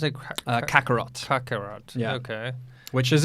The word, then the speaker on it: Kakarot: How do you pronounce it? Kakarot.